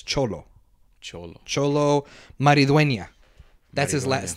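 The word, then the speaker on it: Xolo: to pronounce his name his first name is x-o-l-o and I think x-o-l-o and I think he pronounces that as cholo cholo maridueña that's his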